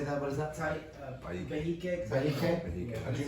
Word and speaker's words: Behique: Behique? Say that. What is that? Behique.